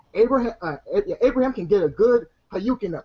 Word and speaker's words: Hadouken: That's a Dukin. It's Hayukin. Say it correctly.